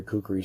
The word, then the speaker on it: Khukuri: places you can buy cookies online but this is where you need to go right here see how they spell it k hu k u RI this is cookie house when you get on